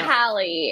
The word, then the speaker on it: Hallie: Is it Haley or Hallie? We have to know. Hallie. It's okay, Hallie.